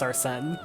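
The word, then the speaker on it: Arsène: Because his name is pronounced Arsene.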